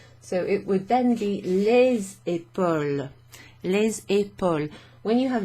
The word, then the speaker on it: les épaules: In front of a noun that starts with a vowel, you pronounce the S when it precedes. So instead of les épaules, it becomes les épaules, and it's pronounced like a Z.